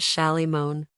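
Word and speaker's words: Shalimar: shammer yes sir shammer the man pronounced it Shy moan good thing I broke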